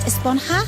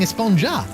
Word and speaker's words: Esponja: Actually, it's pronounced Esponja with an H sound at the end. Really? But we've all been saying Esponja.